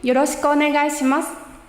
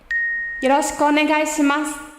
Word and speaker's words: よろしくお願いします: Quick pronunciation note. When saying よろしくお願いします, avoid pronouncing the E sound here. Saying よろしく sounds a little strange. And just like with this, when speaking, leave off う on the end of お願いします.